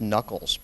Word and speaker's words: Nuckolls: I pronounce it because it is pronounced knuckles but if you spell